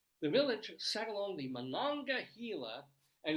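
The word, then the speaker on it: Monongahela: Village sat along the mananga hila and literally tell you how to pronounce it say mangila River the area was known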